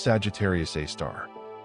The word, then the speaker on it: Sagittarius A*: This black hole is called Sagittarius A*, pronounced Sagittarius A star.